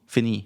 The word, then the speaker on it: Fini: So it's pronounced like E. E. Fini. It's a E. Like ni, fini.